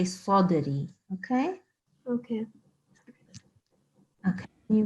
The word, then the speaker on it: صدري: The only thing I would say is Sadri. So this is Sad. It's not, here we go. Sad and then followed by Dal with Jazm on it. So this means that it is a Sad and followed by the Kalkala letter. So we need to say Sadri.